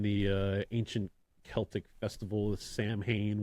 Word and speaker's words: Samhain: You know, it has its roots in the ancient Celtic festival of Samhain, which is how most people pronounce it, but it's actually Samhain. It's how it's pronounced, if I'm not butchering it.